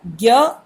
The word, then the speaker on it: ज्ञ: अभी ज्ञ देखिए, हमको ऐसा लगता है कि इसमें ग और य मिला है, लेकिन नहीं है। इसका जो सही उच्चारण होता है वो ज होता है।